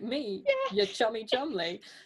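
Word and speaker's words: Cholmondeley: troll mundy and he'll be like oh that chol mindy guy sounds real fishy not like me yeah you're chummy chumley it's a good point because i don't know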